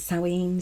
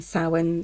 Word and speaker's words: Samhain: Like I said, some people pronounce it Samhain, some Samhain, some even Samhain, Samhain. However you say it, it's fine. It's your festival, it's your celebration. You pronounce it the way you want to.